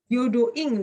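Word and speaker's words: 平等院: Arsitektur ya, kita lihat arsitektur apanya contohnya ya, yaitu ada yang namanya apa tuh bacanya? Yodoin. Byodo-ing desu ne, hai, Byodo-ing ya.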